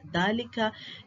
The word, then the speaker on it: ذلك: كلمات فيها ألف تنطق ولا تكتب: ألف المد الموجودة في أسماء الإشارة كهذا، هذه، هذان، هؤلاء، ذلك، كذلك، أولئك. إذن عزيزي الطالب هذه الكلمات نقوم بلفظ الألف ولكن لا نكتبها. ألف المد في الضمير المبدوء بهمزة مع هاء التنبيه: ها أنتم، ها أنتما. ألف المد في الله، الرحمن، إله، لكن، طه، التنوين.